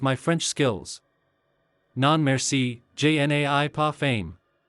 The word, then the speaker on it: je n'ai pas faim: Non merci, je n'ai pas faim. Only I pronounce it, je n'ai pas faim.